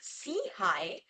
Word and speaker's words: SIHI: Innovation and heeld initiative SEI for short pronounced as SE High which means upward and